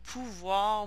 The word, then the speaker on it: pouvoir: Some voir verbs, so notice that the OE is pronounced wa. So devoir, pouvoir, vouloir, so must and